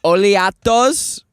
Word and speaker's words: Oleato: We're gonna get us some oleatos. It's the new Starby drink. It's pronounced oleato. Oleato.